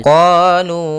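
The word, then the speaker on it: قَالُوا: Pada lafal qalu, kedua-duanya ada hukum tajwid berupa mad tabi'i, yang mana pertama huruf qaf ada fathah bertemu dengan alif, maka qaf qa kita panjangkan 2 harakat, lu kita juga panjangkan 2 harakat, ditandai dengan dhammah bertemu waw, yaitu kita namakan dengan mad tabi'i.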